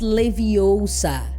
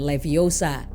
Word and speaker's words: Leviosa: It's Leviosa, not Leviosa. Kita juga melihat sikap serupa